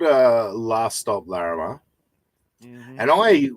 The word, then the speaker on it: Larrimah: called Uh last stop Lama and I when I read it I said last stop laramar but then I watched it and then I heard the way they pronounced it he's